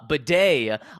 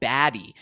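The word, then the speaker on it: Badie: we we have uh or uh Beday on record literally there's a video of him from last year saying oh yeah my name's pronounced uh uh because some people were calling him baddy and he was like no it's well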